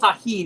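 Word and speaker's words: Tajín: of quite a bit it's called tahin it's spelled t-a-j-i-n the J is an H sound in Spanish so I've got rice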